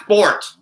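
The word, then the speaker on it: forte: It's pronounced fort. Anybody who adds the A, just stop.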